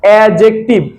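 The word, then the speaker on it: adjective: এটার উচ্চারণ হচ্ছে অ্যাডজেক্টিভ। এই ডিটা হচ্ছে সাইলেন্ট ওয়ার্ড বলে, ঠিক আছে।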